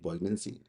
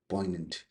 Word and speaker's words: poignant: Funnitude word of existence that gives urgency to bonds, depth to longing and poancy. It's poy. G is silent. In case you don't know, poignant interpretation, poignant representation and pointy to loss.